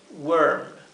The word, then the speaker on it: worm: Worm. Y aquí tenemos que también ser cuidadosos con la pronunciación, porque hay otra palabra en inglés que es warm, ¿sí?